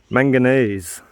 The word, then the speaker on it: manganese: I kept thinking like magnesium, and I kept thinking I just couldn't pronounce it properly. Manganese.